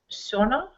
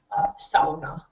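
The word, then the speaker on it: सोना: Is it the ow or this one? Sona. Why? But it's not sauna.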